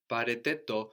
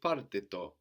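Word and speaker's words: πάρτε το: Pareteto, but here most commonly you would hear parteto, because the ete contracts very easily with the r.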